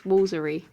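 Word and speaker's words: Woolfardisworthy: Woolardisw worthy. That looks like it could just be a full-on word that you just pronounced from start to finish. Wolfartworthy. Apparently, it's woolery.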